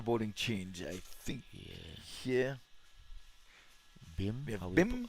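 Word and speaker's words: Bhim: I think here BIM. How we pronounce that? BIM. Yes, we have BIM.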